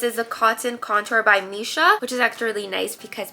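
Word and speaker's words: Missha: a cotton Contour by Misha which is actually nice because Misha rhymes with Nisha so this is what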